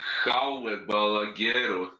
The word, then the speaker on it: Jaume Balagueró: It says he is Spanish, so it would be Jaume Balagueró. Makes sense because it's a Spanish film. Yeah, I didn't know that. Written by Jose Carlos Somoza, Jaume Balagueró, and Fernando Navarro.